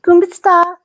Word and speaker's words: Kumusta: Kumusta?